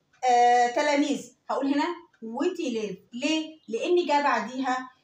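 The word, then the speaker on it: huit: البي هنا نو سو برونونس با، ما بنطقهاش، بس بنطق التي. هقول ست. طيب رقم تمانية ويت ويت.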